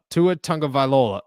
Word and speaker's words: Tagovailoa: I'm not convinced that warm hands to a Tagovailoa or whatever the heck, however you pronounce his last name. Shout out to you guys. That was pretty close. Tagovailoa. Tagovailoa. Tua Tagovailoa.